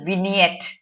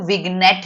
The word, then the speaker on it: vignette: Okay, biographical विनियट, इसको विग्नेट नहीं बोलते, विनियट।